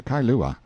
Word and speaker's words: Kailua: We landed at Kailua, pronounced Kai-lu-a, a little collection of native grass houses reposing under tall coconut trees, the sleepiest, quietest, Sundayest-looking place you can imagine.